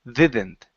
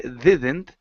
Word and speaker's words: didn't: So when you're pronouncing the word didn't, Carlos, you're using a Spanish D saying didn't. Okay, so when we pronounce the D in English, our tongue does not touch our teeth. Okay, so it wouldn't be didn't, it's didn't.